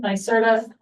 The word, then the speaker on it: NYSERDA: NYSERDA.